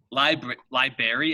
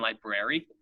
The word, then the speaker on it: library: But some people say library. They ignore the R.